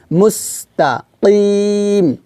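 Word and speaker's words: مستقيم: তো এখানে আমরা একটু বাতাসটা চালু রেখে উচ্চারণটা করব, মুস। এই যে লাস্টে দেখুন একটা শব্দ হবে মুস, এভাবে মুস্তাকিম।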